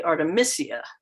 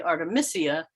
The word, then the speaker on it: artemisia: genus if you say artemisia um because it's m-i-s-i-a and so if you say artemisia you're less likely to misspell it anyway the chemistry